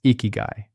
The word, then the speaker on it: ikigai: The word is ikigai. Pronounced ee-key-guy, and it means roughly the reason you get out of bed in the morning.